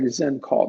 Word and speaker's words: Xencall: Zencaller or Zen is with Zendesk. I believe so. I think it is. Let's see here. Again, it's with an X, so it's like Zencall there.